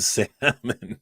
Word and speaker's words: salmon: Who pronounces the L in salmon, dude?